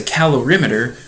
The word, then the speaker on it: calorimeter: give me a second it is pronounced a calorimeter that's about the best